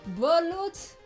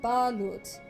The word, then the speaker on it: balut: the beak is hard but oh it's bullet balut listen uh pronunciation is most definitely not my forte but I appreciate the correction ballot I realize how American I must have sounded ballot You got some of that ball.